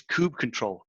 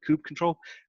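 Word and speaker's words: kubectl: second from last one there is Kubb control could cuddle could cuddle however you want to pronounce it Ice Cube CTL I call it coupe control this is the main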